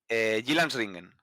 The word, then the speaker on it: Jyllandsringen: A ver, la primera carrera fue en Jyllandsringen, posiblemente el circuito más famoso de Dinamarca. Sí, Se te acaban de corrieron. preguntar en el chat Sí. que pronuncies ese nombre. Lo has hecho muy bien. Jyllandsringen.